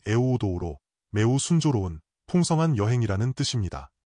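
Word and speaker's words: εὐοδόω: 원문에서 잘됨은 같은 단어이며 헬라어 발음은 에오우도우로 매우 순조로운 풍성한 여행이라는 뜻입니다.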